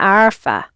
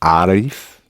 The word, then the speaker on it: عارف: أنا عارف. The emphasis is on the first bit with the male, but the emphasis on the first bit of the word.